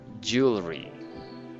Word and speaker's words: jewelry: i read this as jewelry jewelry jewelry jewelry instead of yeah it's instead of instead of jewelry we read it in jewelry just two syllables jewelry jewelry jewelry jewelry